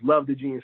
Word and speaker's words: 7xvethegenius: So the way you say her name is Love the Genius. So the 7 is kind of flipped into a L, and then the X stands as an O, and then it's, Love the Genius.